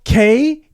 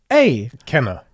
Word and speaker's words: Kena: It's spelled Kena. Kena.